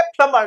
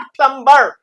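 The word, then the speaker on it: plumber: इसलिए नलसाज का मतलब है नलसाज को बोलेंगे प्लमर नॉट प्लमबर।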